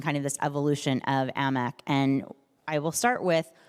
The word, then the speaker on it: AMEC: amec amec definitely Amic I would pronounce it amec for the simple reason that it's an acronym a-n-e-c just in the